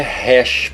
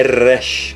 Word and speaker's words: Resh: Resh, lembre-se que não é Resh, porque não é rei. Aqui é Resh, com o R bem puxado, Resh, tá?